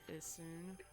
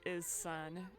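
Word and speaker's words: Issun: i'm a wandering artist names is soon or is sun if you're too american to pronounce it oh look it's a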